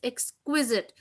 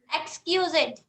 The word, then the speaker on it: exquisite: The exquisite beauty of Taj Mahal, the architecture of Taj Mahal is exquisite because it is something different from others, extremely beautiful.